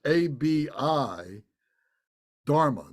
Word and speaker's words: Abhidharma: Abidharma, it's spelled A-B-I Dharma, D-H-A-R-M-A, Abidharma.